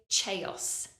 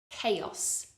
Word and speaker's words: chaos: though we have a CH sound at the beginning we don't say chaos it's a C Sound CC chaos chaos another word with